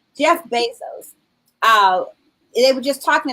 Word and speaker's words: Bezos: I mean, I think about the story of Jeff Bezos' parents who helped him to start Amazon. Is it Mhm. Bezos or Bezos? I always think about this. Basically. Bezos.